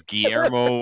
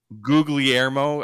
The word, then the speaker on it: Guglielmo: Is that how you pronounce it? Whatever the hell his name is, Guillermo. I don't know. Guglielmo. Guglielmo.